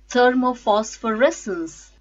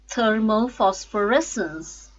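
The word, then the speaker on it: thermophosphorescence: words with six syllables thermo phosphorescence thermal phosphorescence third mo Foss for rest ins stresses on fifth syllable res thermal phosphorescence disproportionate nurse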